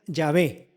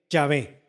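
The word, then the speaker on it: Yahvé: ub y la h la pronunciación de este término sería llave llave durante la edad media hasta el siglo 19 se utilizó la pronunciación latinizada jehova en la biblia hebrea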